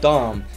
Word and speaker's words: Dam: the name of Thomas Daum, spelled D-A-M, but it's pronounced D-A-H-M, not the other word.